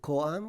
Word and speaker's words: KoAm: Is it Koam or Koam? yes, Ko-Am. See how Ko-Am. it's capitalized K and A, Korean American.